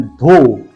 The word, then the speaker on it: though: Failed in this examination, THOUGH, लेकिन GH का बिल्कुल प्रोनाउंसिएशन नहीं किया है, ओनली धो, राइट।